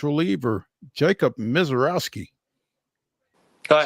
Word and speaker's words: Misiorowski: are joined now by Nashville Sounds reliever Jacob MISIOROWSKI.